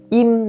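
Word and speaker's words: 임: Đó chúng ta sẽ có Twice, và đó chính là Im Na Yeon, chứ không có ai tên là Lim Na Yeon hết các bạn nha.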